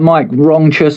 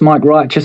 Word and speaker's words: Mic Righteous: And he was like, "These guys are all right that Mike wrongous, Mike righteous." He just mispronounced my name.